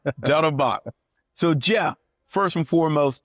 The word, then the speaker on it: Dettelbach: You're really close. Dettelbach. Dettelbach, Yeah. German, Dettelbach.